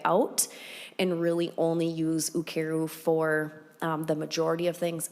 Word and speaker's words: Ukeru: Ukeru.